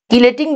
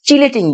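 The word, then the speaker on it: chelating: কাজ করবে কিলেটিং agent কিলেটিং বা চিলেটিং চিলেটিং বা কিলেটিং চটা মেইন উচ্চারণ হ্যাঁ চিলেটিং বলি তো কিলেটিং এজেন্ট বাংলায় লেখা আছে কিলেটিং কিলেটিং বলতেছি এটা নরমাল হচ্ছে চিলেট চিলেট বলি আমরা চিলেট তো কিলেটিং এজেন্ট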